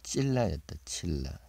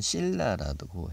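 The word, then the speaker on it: צִלָּה: 여기 기역성경에는 아다고 두 번째는 실라라고 했네요. 찔라. 예. 뭘로 발음하든지 뭐. 이 차대 발음은 치읓 발음도 나고요. 예, 치읓 발음 주로 많이 쓰죠. 근데 또 씨읓 발음도 쓰고.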